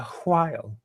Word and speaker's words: while: And yes, I actually pronounced the H. A while.